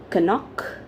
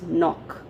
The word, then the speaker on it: knock: one is k-n-o-c-k now how do we pronounce it do we pronounce it as kanok no it's nok right we strike at a